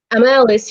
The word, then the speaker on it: Amalis: It's a Celtic name, it's Welsh. So it's Amalis, am I saying it right? Amalis, you're saying it right.